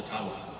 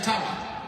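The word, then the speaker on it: Ottawa: Nations leader who said actually it's it's called the tawa and they've been for mispronouncing it all these years I'm not making that up and if you have any A J friends ask them yeah it's a tawa so uh your creepy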